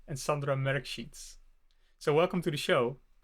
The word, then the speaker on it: Sandra Mrkšić: And I'm really hoping I'm pronouncing their names right. It's Lucija Mlačak and Sandra Mrkšić.